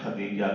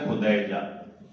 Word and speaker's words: خدیجہ: کی بیٹی خدیجہ ہے، جسے ہم عام استعمال میں خدیجہ کہتے ہیں۔ صحیح تلفظ ہے خدیجہ، مگر کیونکہ یہ غلط الاستعمال ہے کہ لوگوں نے استعمال کر کر کے خدیجۃ الکبریٰ، تو اب یہی ہو گیا۔ اب اگر میں خدیجہ